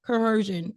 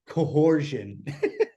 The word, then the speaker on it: coercion: point 406 criminal Co I always say it wrong coercion I always think there should be an H in there but there's not a lot of people say it cooran you can't see it